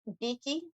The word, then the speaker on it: Bekki: I'm also not correcting people if they mispronounce it. How would you say it? Evidently, there's actually two E's. Beaky.